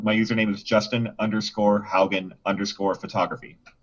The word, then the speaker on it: Haugen: i hate this because my last name is not phonetically uh pronounceable and spellable so uh my name full name was justin haugen and the last name